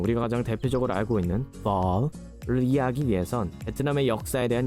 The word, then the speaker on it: phở: 앞에 ph는 p가 아니라 f 발음이 나고요. 합치면 pho 해주시면 됩니다.